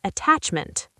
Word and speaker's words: attachment: Did you receive my attachment? Deep dive. Receive. Stress the second syllable. Receive. Attachment. The stress is on attach.